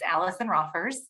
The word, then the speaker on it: Alison Roffers: You did pronounce my name correctly. It's Allison Roffers, and it's kind of a difficult name to say.